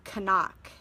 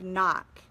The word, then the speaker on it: knock: remember when you were learning about like the silent K when you were reading? And I remember in school I was reading whatever the teacher wanted me to read, and I said the word Canuck instead of knock.